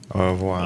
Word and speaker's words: au revoir: Is that French? Au revoir. Yeah. It's Au revoir. French.